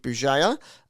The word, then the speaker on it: Bugeja: My name is Bjaya. Uh, Bugaja is how you spell it.